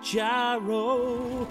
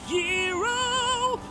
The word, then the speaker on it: gyro: He's going to get a gyro, although it's technically pronounced hero.